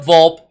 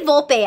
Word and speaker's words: Volpe: So, Adam Volpe, I would say Volpe. I knew somebody in high school who that was their last name, and they pronounced it Volpe.